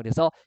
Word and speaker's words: 첫눈: 그래서 우리 가 " 천눈 "( 첫눈 ) 이라 고 말 할 때 , 이 " 눈 " 이 첫 음절이 아니기 때문 에 짧게 발음 하는 것 입니다 .